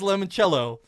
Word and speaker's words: limoncello: This item is called Danny DeVito's Limoncello. Who does Danny DeVito's Limoncello? Ooh. Or limoncello is how it's pronounced.